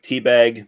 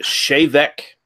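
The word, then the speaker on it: Té Bheag: looks like I know it looks like t-bag but it's actually Gaelic and it's pronounced shave Eck of course of course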